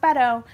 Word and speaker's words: Beto: what I'll say about Beto and it is pronounced Beto he had some real straight talk about race